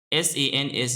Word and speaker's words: Sans: S-A-N-S is pronounced as Sans. It's pronounced as S-O-N-Z.